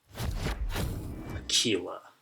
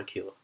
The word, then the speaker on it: Aquila: Aquila. Rhymes with tequila, but I'm just going to call it Aquila.